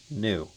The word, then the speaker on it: GNU: Do you prefer GNU or the correctly pronounced new?